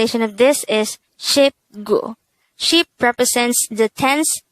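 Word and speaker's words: 십: one set of ten but this should simply be pronounced as ship next is number twenty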